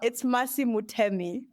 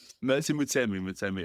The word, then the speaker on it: Mutemi: It's Mercy Mutemi. Mercy Mutemi, okay.